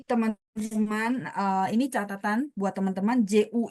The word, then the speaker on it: 巨: Jadi teman-teman, ini catatan buat teman-teman, JU itu bacanya mulutnya harus dibuletin. Ju. Ya, jadi sebagai catatan J, Q, X, dan Y, nanti mereka ketemu U-nya adalah bunyi U, sehingga bacanya Ju.